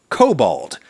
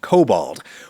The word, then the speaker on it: Kobold: type of mischievously evil mythical sprite creature called kobold, with a K at the beginning and a D at the end, kobold, which may actually be related to the English word goblin.